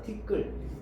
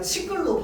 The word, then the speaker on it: 티끌: 티끌. 얘를 우리가 치끌로 발음합니까? 발음하지 않아요. 자, 얘를 치끌로 발음하지 않는 이유는 뭘까요?